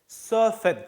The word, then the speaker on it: surfen: 이런 식으로 외래어에서 가지고 들어온 경우에는 원래 단어 발음을 그대로 살려주는 경향들이 크거든요. 그래서 surf의 그 발음을 그대로 살려가지고 surfen입니다.